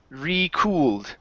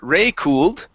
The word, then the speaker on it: recooled: Right here we have the word recooled. Instead of re-cooled, It's recooled. Recooled. Okay, pronounce the D sound here at the very end.